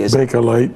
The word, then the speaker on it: Bakelite: Am I pronouncing that correctly? Bakelite. Bakelite. Right.